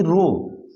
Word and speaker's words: rho: यही रो RHO, इसमें H silent होता है, इसी को रो।